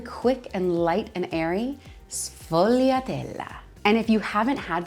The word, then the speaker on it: sfogliatella: One of my favorite Italian pastries is not a sfogliatella, sfogliatella, sfogliatella. The S and the F make us really quick and light and airy, sfogliatella.